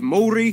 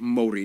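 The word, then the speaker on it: Māori: about fifteen percent of the country is native maori seven percent pacific islander and the rest are mostly asian of various countries like china korea and japan yes by the way it's pronounced mori not maori maori nah he's trying wet in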